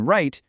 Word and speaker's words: write: And in write, you don't hear the W.